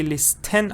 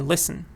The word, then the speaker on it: listen: he is silent listen so this T here is silent it's a silent so I don't say list 10 I say listen Le Sen so this